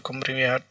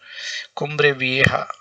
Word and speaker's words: Cumbre Vieja: Because in Spanish they pronounce J as here. Cumbre Vieja. Normally in English we would call it Cumbre Vieja, but I guess this is Cumbre Vieja.